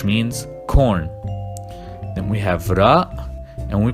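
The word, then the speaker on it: راء: Then we have ra, and we pronounce it r, like an R in English, but you need to roll the R.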